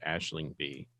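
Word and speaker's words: Aisling Bea: Her name is pronounced Aisling B.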